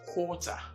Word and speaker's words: quarter: I am talking of this word involves a longer vowel or see the way my mouth is rounded is is what oh so it's quarter unlike the previous ones which